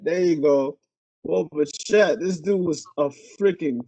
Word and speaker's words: Bichette: Bo Bichette, there you go. Bo Bichette, this dude was a freaking killer.